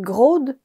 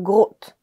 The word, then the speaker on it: gros de: And you'll hear either "grod" or "grot." Because to say "gros de," people just pronounce "gros d'."